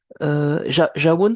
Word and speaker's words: Jawoun: Jawoun, c'est votre prénom? Je prononce correctement? Oui, c'est ça. Shawoun, c'est bon, super.